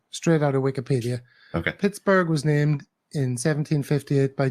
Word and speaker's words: Pittsburgh: Forbes was a Scotsman he probably pronounced the name like Edinburgh right right right uh it's now the there was some arguments over whether the it should be dropped it was dropped for a while I think but it's pronounced Pittsburgh and of course that's